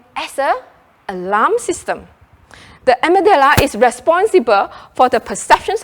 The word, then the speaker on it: amygdala: Now, I pronounce it as amygdala.